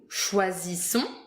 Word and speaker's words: choisissons: Nous choisissons, Nous choisissons because it's we. choisissons, Choisissons. Z, the first one is, you hear it, Z, because it's one S. The second is double S, so it's mute.